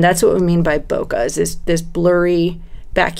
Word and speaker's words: bokeh: photographers use it's spelled B okay eh we pronounce it bokeh and what people like especially say with you